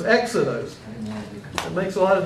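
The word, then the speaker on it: ἔξοδος: If it was a rough breathing, how would you pronounce that? Hexados. Hexados. But you don't have the rough breathing, you have the smooth breathing, so it's exodos.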